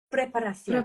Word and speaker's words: preparación: And that makes the pronunciation a little bit different, because the CI is like a TH. So educación. Educación. Preparación.